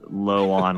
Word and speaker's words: Lon: And I yeah, that's why I actually say uh Luan instead of Lon, which is what I asked you guys to say.